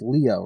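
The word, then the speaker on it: Lio: you do know that he's pronounced Leo right oh yeah it's Leo oh would be funny if it wasn't because then it would be like the the scientist for back in the day Galileo that would be a cool thing but it's not it's l-i-o so not okay it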